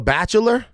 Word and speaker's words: bachelor: I say bachelor. It's 2 syllables. Bachelor. Like It's bachelor? No, bachelor? you keep doing it. You're adding a syllable.